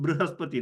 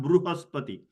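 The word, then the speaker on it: बृहस्पति: But Brihaspati has to be pronounced Brihaspati, not Brihaspati, not Bruhaspati. When it is, sometimes it is spelled as U, then you say Bru, you can see the lips rounding. And if it is written as R-I, then you have a tendency to make Ri, okay, when the lips are widened.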